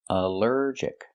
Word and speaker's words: allergic: Allergic is 3 syllables. Allergic. The stress is on the second syllable. Allergic. Allergic. Here the ALL is not pronounced all, but pronounced like in cup and up, because it's not stressed.